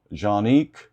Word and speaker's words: Canik: Turkish handgun and actually the Turkish they pronounce it, um, how do they pronounce that? Jeanik. Janik mate. Um, but us Americans we just call it can mate. That's how I say it. Not mate. Not jean.